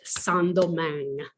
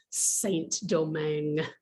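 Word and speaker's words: Saint-Domingue: french were first there they called it sandomang that's in french in english it would be more like saint domingue s-a-i-n-t d-o-m-i-n-g and the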